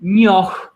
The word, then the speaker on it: njoh: Nyoh, nyoh. Now I pronounce it as nyoh, like that. That age is silent again.